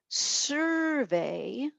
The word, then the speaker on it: survey: So survey is a noun. Survey, where the accent is at the end, is a verb.